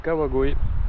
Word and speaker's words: Kawagoe: On est devant le château de Kawagoe. Donc ça se prononce comme ça, je vais m'enlever du soleil parce que ça me tape sur le crâne.